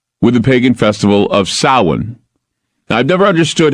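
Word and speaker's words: Samhain: Sam Hayne is they if I were to say sam Hayne every go oh yeah I know what Sam Hayne is it's something evil Sam Hayne but it's actually called sa there's sa and then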